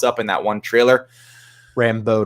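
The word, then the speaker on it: Rambeau: 80s outfits when monica rando pops up in that one trailer rambo not rando rambo yeah i just mispronounced it um you like that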